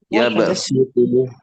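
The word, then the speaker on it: يَبْسُطُ: Maka tulisannya sod ya dibaca sin ya. Ya baksutu, ya baksutu. Ya. Jadi meskipun tulisannya sod ya membacanya sin. Ya baksut ya begitu.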